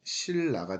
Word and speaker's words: 신라: 신라. 발음해보면 신라가 됩니다.